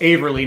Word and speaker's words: Averly: it right it's well it's averly not avery but avery jane is